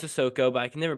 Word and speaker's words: Sissoko: It was a lot of Carson Cooper in that game over Maddie Sissoko. Sissoko. Jeez, I know it's Sissoko, but I can never pronounce that.